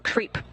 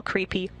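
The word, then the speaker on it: KREEP: have a weird component that we call creep and it's spelled k re e e p in sense of potassium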